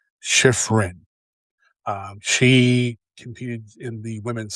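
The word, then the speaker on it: Shiffrin: But another skiing highlight was Michaela Schifrin. No, Schiff. I keep mispronouncing her name. Schifrin.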